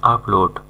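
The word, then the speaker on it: applaud: দেওয়া বা হাততালি দেওয়া ভিডিও আপলোড না কিন্তু এর উচ্চারণ হবে আপলোড করতালি দেওয়া বা হাততালি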